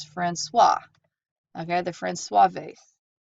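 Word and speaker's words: François: paper real quick it's the this is not pronounced friend quois it's Francois I've heard the Francois vase and so for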